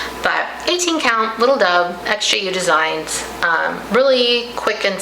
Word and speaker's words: XJU: for forever until I saw another YouTube video where someone correctly I believe said that the name of the company is XJU Designs, not Zu, which is what I was trying how I was trying to pronounce it.